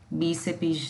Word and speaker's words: bíceps: detalhe, você vai dizer, bíceps não é uma palavra trissílaba, e sim uma palavra dissílaba. Bíceps tem 2 sílabas, tá? É o bi e o cepes.